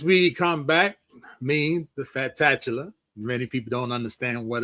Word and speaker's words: Fatatchula: As we come back, means the fat tatula. Many people don't understand what it's all about, okay? It's pronounced fat tatula just like it's up on the board.